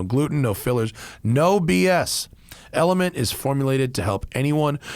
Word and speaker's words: LMNT: All right, it's LMNT, spelled LMNT, pronounced LMNT.